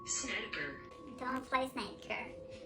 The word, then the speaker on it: Snedeker: Como é que é a pronúncia? Snedeker.